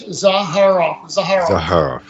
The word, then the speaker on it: Zaharoff: It's Za, like pizza. Har, like har, like, you know, funny. And then off, like the switch. Zaharoff.